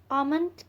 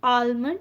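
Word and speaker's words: almond: लेमन नहीं 8 कि बादाम को इंग्लिश में आमंत्रित कहा जाता है लेकिन अक्सर लोग इसे इस पर डांस करते हैं और आल्मंड कहते हैं लेकिन इसे इसमें ऐड साइलेंट है अनु जी कि खजूर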